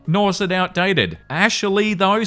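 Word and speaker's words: Ashliegh: A S H L I E G H, pronounced as Ashley, before her husband stopped her.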